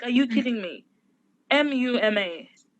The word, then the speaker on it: Muma: hard that's problematic it's just too hard to pronounce my name is muma my name is mummy people call me muma mom like are you